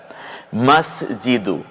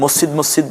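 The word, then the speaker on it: مسجد: মাস জিদু, আমরা যে মসজিদ মসজিদ বলি, সহি উচ্চারণ হচ্ছে মাস জিদু।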